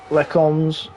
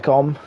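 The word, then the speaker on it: Les Combes: Will Freddy have a look at Stube on the run down the Camel Straight towards Lecombs? You don't pronounce the S at the end. It's Lecombe. Lecombe.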